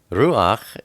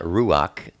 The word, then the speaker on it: ruach: how you pronounce and when you you say ruak it's not ruach it's Ru it can